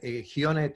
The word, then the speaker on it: Ghione: Y Walter Gione, el apellido se escribe G-H-I-O-N-E.